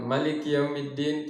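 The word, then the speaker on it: مَالِكِ يَوْمِ الدِّيْنِ: Selanjutnya Maliki Yaumiddin, ya, Maliki Yaumiddin. Nah, ini ma juga dipanjangkan 2 harokat, ya. Ini kalau kita membaca dengan riwayat Hafaz, ya. Ini bukan Maliki Yaumiddin, tidak dipanjangkan, tapi panjang 2 harokat saja, tidak juga dilebihkan.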